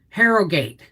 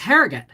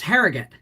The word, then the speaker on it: Harrogate: country her frame split okay i'm missing something harrow gate no it's harrogate it's it's pronounced harrogate um so we passed the bar again exam